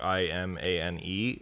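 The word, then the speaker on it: Imane: name is because her real name is like i-m-a-n-e and it's pronounced iman and so it's literally pokemon yeah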